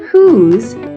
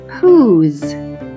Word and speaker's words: whose: stretched out the word who's we didn't say a sound when we got to the last letter that's because there is a silent E on the end of the word who's normally this e at